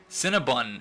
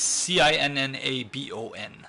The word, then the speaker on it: Cinnabon: but quite delicious it's c i n n a b o n Cinnabon or I I pronounce It Bun but still need three